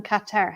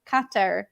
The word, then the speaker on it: Qatar: to the fact that when they pronounced Qatar Qatar I sound like guitar I was like I'm